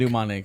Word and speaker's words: pneumonic: were talking about pumic pneumonic yeah pneumonic yeah pneumonic with the p is silent the p is silent